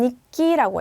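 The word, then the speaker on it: 日記: 갖고 그다음에 일기는 니끼라고 해요. 그래서 니끼를 아 키 카 앞이니까 기억받침을 해서 니끼라고 해야지라고 하는 것보다는 그냥 츠 조금막 히니까 니키라고 해야겠다 생각해 주시면 돼요. 그러면 여러분들 자연스럽게 니키라고 발음하고 계실 거예요.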